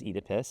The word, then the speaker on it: Oedipus: It is an adaptation of a Greek drama, Oedipus. Yeah. We're going to use that pronunciation because this production from London uses Oedipus, and so it's a little bit different than maybe the way Americans have said it.